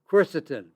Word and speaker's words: quercetin: For allergies quercetin Quercetin is spelled q u e r c e t i n.